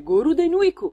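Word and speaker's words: ゴールデンウィーク: Ma ve lo diciamo noi, si chiama infatti Golden Week, pronunciato dai giapponesi in katakana come Goruden Weeku, letteralmente in italiano la settimana d'oro.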